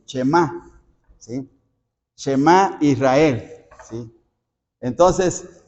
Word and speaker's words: Shema: Y Shema es porque el verbo oye se pronuncia así, Shema, ¿sí?